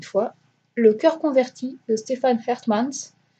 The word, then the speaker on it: Stefan Hertmans: Le cœur converti de Stefan Hertmans, donc ça se prononce comme ça.